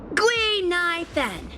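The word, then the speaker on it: Guinaifen: an authentic Ceno name based on the pronunciation gu NY Fen gu means finewood NY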